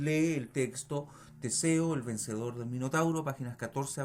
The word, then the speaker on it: vencedor: En este caso la palabra vencedor es aguda, pues se carga la voz en la sílaba dor, en la última.